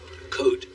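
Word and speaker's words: Côte: Code. The S is silent.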